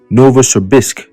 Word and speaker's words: Novosibirsk: All right, Novosibirsk. Right. These names are quite challenging to pronounce, but we got it.